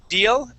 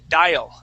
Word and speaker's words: dial: And uh at the end of the uh definition for station, that word instead of saying deal, the the word is dial. That's a long i sound.